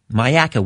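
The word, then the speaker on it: Myakka: line again in Travis is in is it mayaka Florida Travis did I pronounce that right yes you did Sir mayaka whereabouts is that in Florida uh it's a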